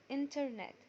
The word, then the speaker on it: internet: اخر معلومة هناخدها عن حرف التي ان حرف ال N لو جه بعديه حرف التي مش بننطق حرف التي وبنكمل كلامنا عادي ولا كأنه موجود. زي كلمة internet. internet هتبقى internet internet.